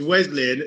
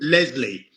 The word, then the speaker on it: Wesley: But my first name's Wesley, and when I hate when people get it wrong. When people get called Leslie.